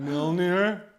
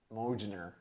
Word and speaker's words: Mjolnir: Is he holding Mjolnir? Holding what? Mjolnir. Mojner. Nobody says that. Is it Thor? Thor! It is Yay! Thor! And I always pronounce it Mojner, but I get the J's probably silent.